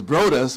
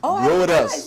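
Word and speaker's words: Broadus: brew and you know Snoop Dog's name is brus but it's spelled b r o a d u s brus yeah his name is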